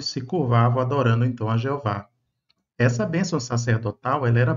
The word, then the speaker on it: Jeová: Sabemos que na época da Páscoa as pessoas também cantavam salmos e ali fala o nome Jehová, que no português pronunciamos Jeová várias vezes, não é?